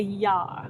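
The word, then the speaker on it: YARE: So, I did a little bit of research and I found something called a YAR, and I hope I'm pronouncing it correctly. It's spelled y a r e, and I got it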